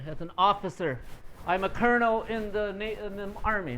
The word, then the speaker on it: colonel: thought that they said Colonel okay so there's a history with this word it's a military word the spelling is from Italian but the pronunciation is kind of French okay so that's why